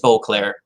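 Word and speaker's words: Boisclair: at 366 Bruce Boclair and it is Boclair that's so he pronounced his name 365 again Junior Richard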